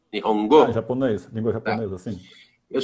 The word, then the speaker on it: Nihongo: Eu fiz um curso de Nihongo, tá certo a pronúncia? Nihongo?